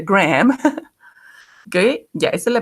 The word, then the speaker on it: Graham: Okay, he says, Graham, que es el nombre que se escribe Graham, pero se pronuncia Graham.